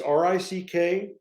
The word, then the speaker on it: Rick Stasi: It's RickStasi, and Rick Stasi rhymes with Dick Tracy.